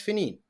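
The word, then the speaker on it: Finghín: able to pronounce it you might spell it f i n IA the N or f i Neen as SP maybe um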